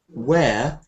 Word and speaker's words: wear: This word "wear" should sound like this, but it should sound like chair, wear, or W-H-E-R-E, wear.